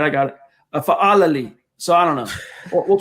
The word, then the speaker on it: Fa'alili: And by the way, real quick, we're getting a couple of pronunciation suggestions here. It's Foilali, and then BNS says Fa'alili. Go ahead, John. Sorry. Go ahead, buddy. All right, I got it. Fa'alili.